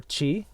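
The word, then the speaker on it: ち: Because technically it is also known as ti, but it's pronounced ti or chi.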